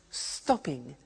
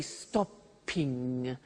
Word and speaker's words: stopping: it becomes stop stopping now notice that in English pronunciation when there is a double consonant we don't hear it in the pronunciation so for example we don't say stoping or swiming okay not like other languages so the pronunciation stays